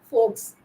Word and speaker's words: Volks: The word folklore and folk media come from the German root word Volks, pronounced as folks, which means people.